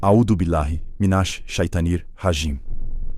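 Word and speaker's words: أعوذ بالله من الشيطان الرجيم: Vamos dividir. Audo. Pausa. Bilai. Pausa. Minash. Shitanir. Rajim. Pausa. Agora completo. Audubilahi minaashitanir rajim.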